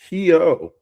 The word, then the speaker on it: Suryanto: Um, and if I pronounce Astrid's last name wrong, I'm sorry. It's Suryanto.